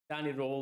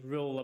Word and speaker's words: Röhl: But starting off with Danny Röhl, or Danny Röhl, I believe is the correct pronunciation.